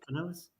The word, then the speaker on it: Canales: Is that what I would pronounce his name? Yeah. Canales.